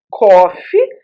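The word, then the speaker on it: קוף: mas eu sei que o nome dela é Coffee e que ela tem um som de que de queijo e essa letra Ela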